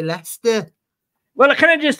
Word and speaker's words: Leicester: swap glasses with me you thought that that says Lester that's how you say it you gotta say Lester well can I just